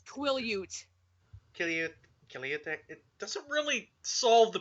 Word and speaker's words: Quileute: Kiliut. It doesn't really solve the pronunciation, does it?